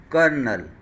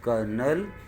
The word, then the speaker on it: colonel: Its pronunciation is colonel. A rank in military, or maybe in rangers also. I mean officer of high rank in military or army. So this word is pronounced as colonel, but it spells like this, colonel.